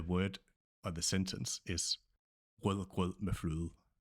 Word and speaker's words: Rødgrød med fløde: The word or the sentence is Rødgrød med fløde. Rødgrød med fløde.